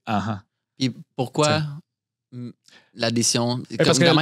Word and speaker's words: 8h8: Fait que pour dire oui, tu vas dire, ça s'écrit 8H8 qui va se prononcer an.